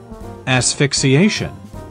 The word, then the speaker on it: asphyxiation: This is how you actually pronounce it. Asphyxiation.